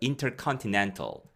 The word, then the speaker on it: intercontinental: 강세는 intercontinental에 있습니다. 그래서 강세가 세 가지가 있는데 가장 강한 강세는 nantal이에요. 그래서 intercontinental.